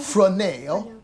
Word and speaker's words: Fresnel: Fresnel. It's spelled just like it sounds. Yeah, F''RESNEL.